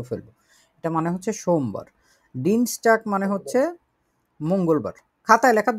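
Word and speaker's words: Dienstag: ডিনস্টাক মানে হচ্ছে মঙ্গলবার।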